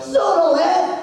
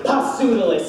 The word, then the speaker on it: Pseudolus: Pseudolus! Pronounced perfectly. You know, a lot of people say Pseudolus, and I hate it.